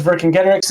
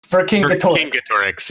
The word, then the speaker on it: Vercingetorix: Vercingetorix. Vercingetorix, yeah. The main thing is that the C is always hard for Celtic languages.